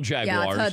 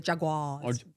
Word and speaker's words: Jaguar: jugulars right all the Jaguars well but the English pronounce you are yeah and we say it's Jaguar and I have to say on air Jaguar which I find incredibly difficult and sometimes my research